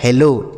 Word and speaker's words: hello: यहाँ पर है डबल एल, तो डबल एल वैसे बच्चों एक एल को यहाँ पर साइलेंट कर रहा होगा।